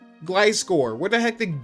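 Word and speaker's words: Gliscor: or freaking Glyscore as glycore? Like how do you even It's literally a It's gliding It's a gliding scorpion. Glyscore. Where the heck did glissor come from?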